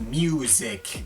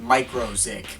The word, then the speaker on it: μ-Ziq: yes before you ask I know it's actually pronounced music and not micro zic but I use the latter pronunciation to avoid